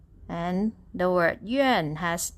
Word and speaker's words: 院: And for the word yuàn also has only vowel sound. U with the dot, A and N pronounced as yuàn, yuàn.